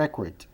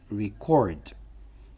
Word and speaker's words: record: Registro. Registro é record. Registrar é verbo. Record. Record. Record.